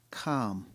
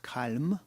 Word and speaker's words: calm: silent G keep calm calm not calm a silent L I love palm trees